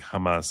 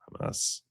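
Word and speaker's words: jamás: One of the more bizarre moments occurred when Maduro was proclaiming his innocent and Venezueler, Hamas. Spanish word translates to never, but it's pronounced like Hamas in English. Hamas.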